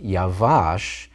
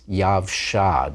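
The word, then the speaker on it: יָבְשָׁה: Remember that eretz is a feminine noun, so it's not yavash, it's yavsha, dried up.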